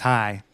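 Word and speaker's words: Chai: that's pronounced shot o spelled CH AI but it's pronounced hi that's just a reference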